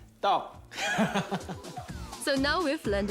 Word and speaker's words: tteok: Yes, it's called tteok. Please say tteok.